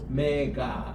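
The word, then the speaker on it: ωμέγα: 이렇게 합니다 우리 따라합시다 오메가 엑센트는 여기 있거든요 따라합시다 오메가 오메가가 좀 깁니다 그냥 오메가 오메가가 이렇게 여기에 액센트가 있어요 그래서 알파와 오메가다 그럴 때에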